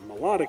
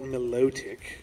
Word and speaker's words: Milotic: Melodic here, that is how it's pronounced, I will fight you otherwise.